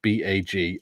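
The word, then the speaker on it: Bagillt: I used living down the road it's called it's spelled b a g i l l t and we call it bag of course I shouldn't laugh most English people pronounce it baggle though baggles or Bagel we call it baggy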